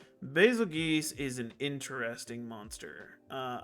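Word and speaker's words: Bazelgeuse: fight I'm gonna put you up here a basil good that's how you say his name basil geese is an interesting Monster uh I like the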